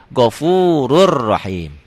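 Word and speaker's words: غَفُورٌ رَّحِيمٌ: Ghafurun Rahim dibacanya jadi Ghafurur Rahim.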